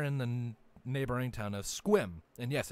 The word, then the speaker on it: Sequim: the neighboring town of Squim. And yes, it's pronounced Squim, not Sequim. I know it's weird, Squim. but yes, Squim. It's Native American pronunciation, anyways.